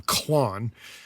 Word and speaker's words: Klon: However, they call theirs the I I guess you're pronouncing it the same, Klon. Minotaur is the Nembrini plugin, which is meant to emulate the Klon Centaur. However, it's not spelled K L O N, it's C L O N, and instead of Centaur, it's a Minotaur.